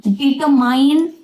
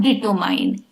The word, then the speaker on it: determine: Determine, not determine. Determine. Determine. No mine, only min.